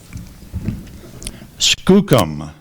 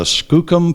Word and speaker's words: skookum: PR there are copal or copal copal first pronunciation copal cop c o p a l Copo Skookum Skookum Liz felt sure that the pale of blueberries would make a Skookum pie Skookum can you repeat that yes Skookum